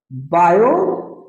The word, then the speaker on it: Biot: Vector form of बायो, T silent होता है, बायो सवार्ट लॉ।